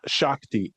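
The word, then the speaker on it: Shakti: So, I'll spell it. Shockti.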